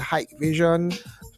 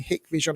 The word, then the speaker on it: Hikvision: system we use Hikvision brand some policies pronounced pronouncing the hike Vision but the compostable and pronounced it Vision it's